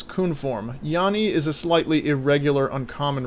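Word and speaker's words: 脂: The second character is usually pronounced Abra in its kun form. Yani is a slightly irregular, uncommon reading.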